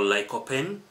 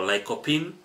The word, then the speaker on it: lycopene: Tomatoes, they are very important also because they contain what you call lycopene or lycopene, whichever way you pronounce it, lycopene.